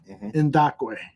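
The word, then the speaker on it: Ngakoue: Is the proper way of pronouncing his name is Yannick Ngakwe, right? Yep.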